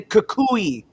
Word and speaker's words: Kukui: also the man repping the Kukui beads, because that's how you pronounce it.